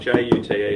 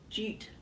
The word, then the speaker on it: jute: Yeah, well, it's spelled J-U-T-E, and I always wonder if it's ute or jute, but I think it's jute. No, it's jute. Yeah, okay. You pronounce the J.